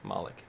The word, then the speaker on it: Moloch: moloch how do you how do you pronounce this well like malik that's right demon malik baby um